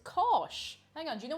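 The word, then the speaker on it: cáis: say cheese and irish it's actually not too different from the german it's kosh hang on do you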